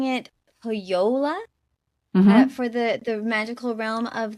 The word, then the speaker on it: Pohjola: So when I looked it up, it looked like it was pronounced as a Y. So I've been pronouncing it with a Y sound.